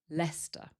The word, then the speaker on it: Leicester: Leicester. And then we just add square, so we get Leicester Square.